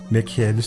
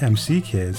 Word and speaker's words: M.C. Kids: even says right here insert the mick kids that's pronounced MC kids cartoons and turn on